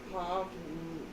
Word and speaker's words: Pavlova: Ralph says it's pronounced Pavlova.